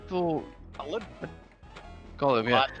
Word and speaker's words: Gottlieb: ones I didn't get were the, how to pronounce it, Gottlieb or? Gottlieb, yeah.